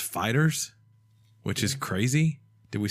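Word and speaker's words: FighterZ: fact is we apparently said it wrong it's pronounced fighters which is crazy did we say that I refused to say like they're saying the confusion came because of the Z that people are saying fighter Z fighters ed more fighters ball fighters just the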